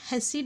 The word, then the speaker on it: Hasse: இதை சிலர் ஹெஸ்ஸி டயக்ராம்னு சொல்கிறாங்க. பட் நான் கூகுளில் சர்ச் பண்ண வரைக்கும் இதோட ப்ரொனன்சியேஷன் ஹேஷ் டயக்ராம் தான்.